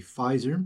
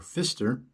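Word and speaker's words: Pfister: Cinematographer Wally Fizer, I think it's how you pronounce his name, or Fister, PF I s who worked on all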